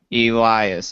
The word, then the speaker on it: Elias: Elias.